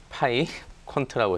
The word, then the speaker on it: 파이퀀트: 파이 퀀트라고 했었고요. 네네. 또 이게 프랑스어로 삐깡이라고 읽히고 있는데 네네.